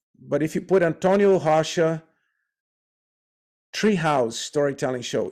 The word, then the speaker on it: Rocha: name of course is r-o-c-h-a but it's pronounced hasha because every R opening a word in the beginning of a word has a h American H sound so the H sound